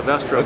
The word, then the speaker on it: Vestrum: have a new model of mid-size tractor, the Vestrum. Is that how you say it? We do. It's the Vestrum.